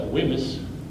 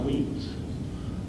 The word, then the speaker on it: Wemyss: John James was against, you and I would pronounce that Wemyss, but we know it's pronounced Weems.